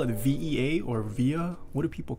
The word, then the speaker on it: VE.A: VE.A, pronounce all the letters. Okay, so I was right, it is VE.A.